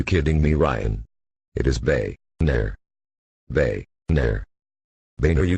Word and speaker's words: Boehner: will try it one more time mr speaker boner bone uh boner bone uh are you kidding me ryan it is bae nair bae nair they know you dumb [ __